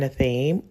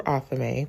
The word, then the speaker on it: athame: An example of this might be an athame or athame, whichever pronunciation you prefer, which is a miniaturized ritual sword.